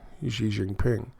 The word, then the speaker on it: Xi Jinping: And yes, it's Xi Jinping.